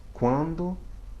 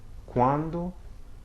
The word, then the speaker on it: quando: Before other vowels such as A or O, it sounds like KW, okay? Quando, quota. Quando, quota, okay?